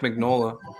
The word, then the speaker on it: Mignola: yeah it's uh um it's pronounced it's pronounced mignola um tim sheridan and